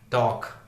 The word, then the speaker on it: talk: वैसे TALK, टॉक, टॉक, टॉक का मतलब बात करना, टॉक एक अमेरिकन शब्द हो गया। टोक, टोक, ओ की मात्रा, टोक, वो एक ब्रिटिश प्रोनाउंसिएशन हो गया।